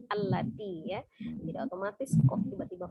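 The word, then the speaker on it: الَّتِي: Ini ada bacaan lati, tapi kita bacanya al-lati.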